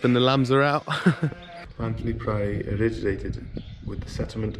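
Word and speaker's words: Llanthony: I think it's Llantony, how they say it.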